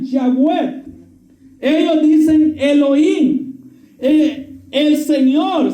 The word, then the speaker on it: Yahweh: Los judíos lo pronuncian Yahweh.